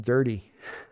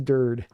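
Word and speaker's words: Durde: I didn't know his name was pronounced dirty. I was pronouncing it dirty for a while too. It is Dird. But that E's hard not to land on that E at the end of the name.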